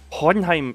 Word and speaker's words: Hohenheim: Either way, Hohenheim. Hohenheim. Hohenheim. Hohenheim. Hohenheim. That's Hohenheim. That feels weird. That feels weird in the throat. Who all is here? Right. And we go. German pronunciation. Hohenheim.